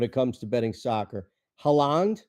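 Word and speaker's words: Haaland: comes to betting soccer haland is that the proper pronunciation okayand Holland Holland okay like the country Holland to plus first half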